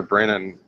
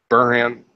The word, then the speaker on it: Burnham: being able to commune with Spock's, with Commander Brennan, or Brennan. How do you pronounce her name again? Burnham.